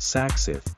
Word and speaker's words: SACICT: Craft Bangkok 2022 was organized by Sak-Sith, pronounced Sak-Sith, and the event was held at BITEC Bangna Exhibition and Convention Center from 8 to 11 September 2022.